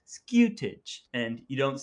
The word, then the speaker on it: scutage: you pronounce scutage and you put a little hint of a y in there so it's not scuti it's skewtig and you don't say